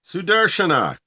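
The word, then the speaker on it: Sudarśanā: Sudarshana. Okay, S-U-D. Yes. A-R-S. A-N-A. It's a Shiva S. Shiva S. And a long A at the end.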